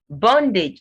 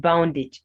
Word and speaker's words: bondage: Bondage, not boundage. It's bondage. O as the O sound, not OU here.